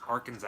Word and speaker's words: Arkansas: It's pronounced Arkansas.